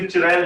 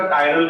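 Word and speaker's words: chiral: Attach हो उसे बोले, गुजराती मीडियम वाले जनरली इसे चिरैल बोलते हैं, चिरैल। चिरैल कार्बन नहीं बोलेंगे, इसे एग्जैक्ट प्रोनाउंसिएशन इसका कायरल कार्बन होता है।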